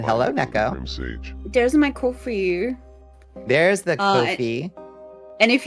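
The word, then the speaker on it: Ko-fi: I only know that it's pronounced Kofi because they say in their FAQs that it's supposed to rhyme with no fee.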